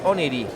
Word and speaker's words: Oneiroi: Is it Oneiroi? Greek will call it Oniri. Okay. Oniri in Greek.